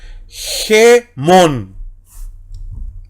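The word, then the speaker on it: ἡμῶν: Así que, ¿cómo leemos? Gemón. Esa es la pronunciación correcta, sería pater gemón.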